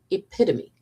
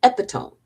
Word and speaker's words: epitome: By the way, it is pronounced epitome, not epitome, for the gazillion people that drove me crazy reading this. I love you all, but it is epitome.